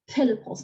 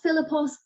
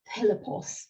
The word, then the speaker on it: Philippos: So Philippos, not Philippos, Philippos, a lover of horses.